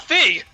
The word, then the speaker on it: Fi: I don't care yeah no one cares about Fe or fi whatever the Hell she's pronounced it's supposed to be fi according to this game oh uh who just